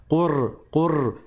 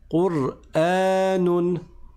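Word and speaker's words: قرآن: J'ai dit qur. Et ça, c'est pas correct. On doit s'arrêter sur le ra. Qur'anun.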